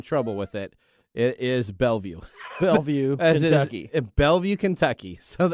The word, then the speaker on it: Bellevue: It is Bellevue. Bellevue, Kentucky. Bellevue, Kentucky. So of all the names you want to pick for some unique place in Kentucky. Coming to you straight from Bellevue, Washington.